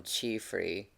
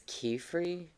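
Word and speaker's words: Qifrey: to I've got to force myself not to call him Chrey or Chay because like I just think of the Chinese pronunciation of Qi, but it's Kefrey. Yeah. Okay. Okay. Q as in K sound.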